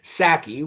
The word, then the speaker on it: Psaki: Well, the deputy press secretary, who's second in charge to Jen Psaki with a silent P, just like the silent P in president.